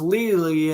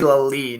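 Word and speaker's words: Lelie: The intended man was Lely, and it's now 3rd and 20. I'm pronouncing that name right. Ashley Lally. I think it's Ashley Lally, not Lely.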